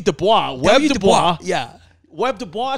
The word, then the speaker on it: Du Bois: learned how to say it correctly yeah w dubois yeah webb dubois said no i want my